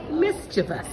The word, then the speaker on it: mischievous: Caribbean mischievous mischievous and you know the correct pronunciation is actually mischievous oh ah you got me salmon salmon salmon